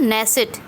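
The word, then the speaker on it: Knesset: नेसेट, के silent है।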